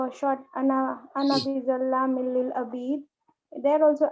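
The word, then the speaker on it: أنا: basically in Quran or in Arabic language, ana is always pronounced with one haraka. It's not pronounced as harf mad. So it will not be pronounced as ana. It will be pronounced only as ana, which is basically means like this.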